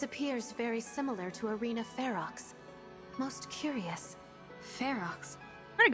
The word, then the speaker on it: Ferox: I thought it was pronounced Faro. Like how you pronounce like faux fur, because that uses an X at the end. And so I was like, I thought that this was pronounced Faro, and then I found out it's actually Ferox, and I was really mad.